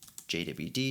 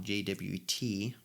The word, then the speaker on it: JWT: which calls the passport.authenticate jwd strategy keep pronouncing that wrong jwt okay so again walking